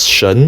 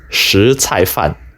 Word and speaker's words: 什菜饭: And it is true that the word (什) which we would normally read as shén or shěn is not to be read this way here. So, for those of you who gave the above as your answer in my survey, now you know. These characters, in this context, are pronounced shí cài fàn.